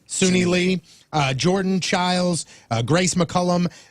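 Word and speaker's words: Suni Lee: joining her is uh is it senia is that how you say her name Le Sunni Sunni Lee uh Jordan childes Grace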